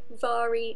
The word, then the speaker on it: Mhairi: And I should just say Vari is spelt M-H-A-I-R-I.